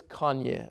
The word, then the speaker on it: Kanye: and people started laughing I couldn't pronounce that right but ok so there's all kinds different it's Kanye okay just Kanye's yeah I'm